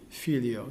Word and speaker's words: Filio: little white note for the accent of fi, Filio. So it comes out this way: Gloria Patri et Filio, fi being that little white note, as an example.